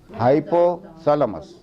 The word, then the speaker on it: hypothalamus: keep the body temperature constant all the time hypothalamus and you have to know how to pronunciate it some people say hypo like funny